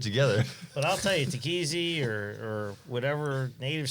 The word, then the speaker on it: Tekéze: we should get that takazi stuff and i'm like no you idiot it's take easy easy goes down easy